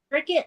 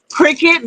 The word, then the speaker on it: Cricut: So, is it actually a cricket or is it cry cut? How they say that word? Huh? Is it cricket or kry cut? Cricut, but it's spelled C R I C U T.